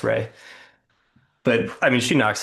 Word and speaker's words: Rhea: I always thought No, Rhea is Ray.